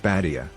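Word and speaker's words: بادية: The Arabic term for desert, pronounced Badia, is where the word Bedouin originates.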